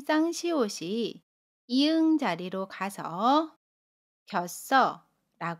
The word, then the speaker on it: 겼어: 만납니다 그러면 받침 당시 05:00 이응 자리로 가서 겨 써라 고 발음 해요 연음 입니다 겨 써 그래서 문장으로